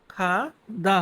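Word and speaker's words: 가다: Next খাদা। খাদা। খাদা যদিও ইংলিশে এখানে জি দিয়ে লেখা বাট এটার উচ্চারণটা কিন্তু খাদা হবে খাদা খাদা মানে যাওয়া টু গো কোথাও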